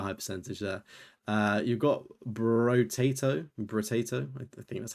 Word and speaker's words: Brotato: You've got Brotato, I think that's how you say it. Fair, respectable rarity there. Double stack on that one. I always think it's like Boruto, but it's not. It's literally Brotato.